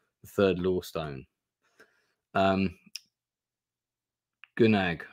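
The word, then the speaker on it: Gnaag: third law Stone um gunag rhymes with snag yeah yeah so good gnag gnag like now like to nag someone oh to nag okay so uh nag okay all right the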